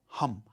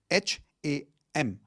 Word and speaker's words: HAM: The fifth chakra is your throat chakra which is sound of hum. H A M.